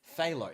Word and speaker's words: phthalo: Why do I try and pronounce these things? It's phthalo. Phthalo.